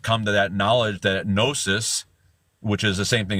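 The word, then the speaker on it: gnosis: o is in there the g is silent just like P is in silent in Numa um but that nosis you add a o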